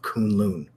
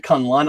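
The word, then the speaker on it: K'un-Lun: seen the show so he pronounces it Kunlun I was thought like a moon also but he pronounced it kind of lund for some reason and secondly that was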